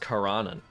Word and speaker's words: Karanan: Apparently it's pronounced Karanan, which is interesting.